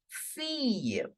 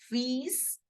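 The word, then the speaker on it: fille: that I and E whenever the two L are between i and e we always have to change the sound of to L to y y so how we are going to pronounce daughter in French it will be Fe I repeat it once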